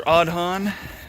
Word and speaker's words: Aodhan: These are Aodhan, and that name is pronounced correctly.